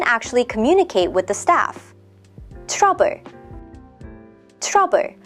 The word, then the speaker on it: 트러블: Trouble. Trouble. That's just the English word trouble pronounced Korean style.